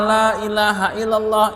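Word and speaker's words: لا إله إلا الله: Cuman bacanya gini lailahaillallah panjangan lnya.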